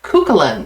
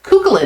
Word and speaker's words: Cuchulainn: a great fantastic Vibe so he was pronouncing it culan I believe and uh so I thought it was like C Cain or something so culin is how he was saying it so that's very good